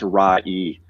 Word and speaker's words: Ray: It's probably Ray Cuthbert for all I know. Since I've been botching most people's names, but I got to talk with him, and then very cool. It's actually pronounced Ra-E.